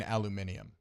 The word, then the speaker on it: aluminium: I love saying aluminium. Like the Brits say it.